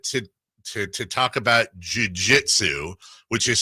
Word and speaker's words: jiu-jitsu: did he lose his beautiful wife to a jizou conru to in how you pronounce it what's the word I even know what is it what Jiu-Jitsu jiu-jitsu instructor I mean that's the whole theme